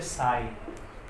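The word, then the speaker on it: sigh: जैसे साई, इसको आप क्या कहोगे, इसको आप साई बोलते हैं, साई। GH का साउंड नहीं आता।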